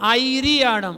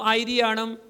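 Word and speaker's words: आयरियाणं: या नहीं बोलना है वहां पर या नहीं है जो आप बोलते हैं ना आईणम आईणम नहीं है आईआणम है तो आप या बोलते हैं अ य री याणणं आप ये बोलते हैं लेकिन ये गलत है ऐसा नहीं है वहां पर है आई रियाणं ठीक है चौथे में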